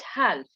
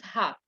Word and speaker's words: half: first of all guys this is not health this is half just like cough the l is uh usually i don't